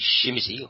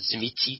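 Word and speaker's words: Tzimisce: across the board, because the Shimizi, or the Zimitzi, depending on your pronunciation, are prevalent much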